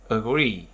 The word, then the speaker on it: agree: Trọng âm thường rơi vào âm tiết thứ hai đối với phần động từ hai âm tiết.